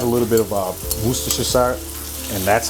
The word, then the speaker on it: Worcestershire: supposed to add a little bit of uh worcestershire and that's how you actually pronounce that you're supposed to add a little